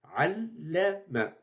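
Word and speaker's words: علّم: Et on prononce double, allama. Et observez que dans la transcription, nous avons écrit deux fois la lettre la et on prononce deux fois. Et on dit allama.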